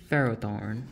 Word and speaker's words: Ferrothorn: Ferrothorn.